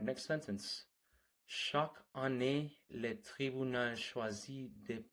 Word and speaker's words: chaque: Chaque. Is that pronounced correctly? It's very close. The sound is a bit softer, more like shack, with the ch sounding like the sh in ship.